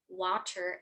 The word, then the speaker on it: water: The flapped T or D in the medial position does sound exactly like a Portuguese R, okay?